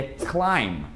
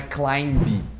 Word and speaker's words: climb: Escalar também, o verbo escalar, que é climb. Não é climb. Climb, o B não é falado.